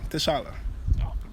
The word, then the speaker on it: T'Challa: So, I mean, that's how we say it back home, T'Challa.